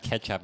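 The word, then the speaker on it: kecap: right yeah yeah yeah it's spelled k e c a p um like the the C and that's like a CH sound ah yeah yeah [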